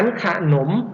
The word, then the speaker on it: ขนม: ไหม ครับ ดัง นั้น ขนม นะ ครับ ออก เสียง อัด แต่ ไม่ เขียน อะ ลง มา ก็ เป็น